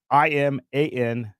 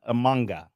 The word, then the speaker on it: Imanaga: So it's IMANAGA. Toby, you got Shota Amanga, I think.